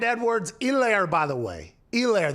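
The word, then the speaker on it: Helaire: elaire by the way elaire the h is silent ground and pound pound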